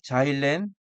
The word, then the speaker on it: 자일렌: 자일렌 자일렌이 우리는 옛날에는 크실렌이라고 했습니다. 일본식 발음이 크실렌이고 영어 발음이 자이렌입니다.